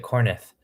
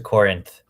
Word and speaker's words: Corinth: two gods from kornith oh i've always pronounced it kornith it is it is a corinth my bad and you can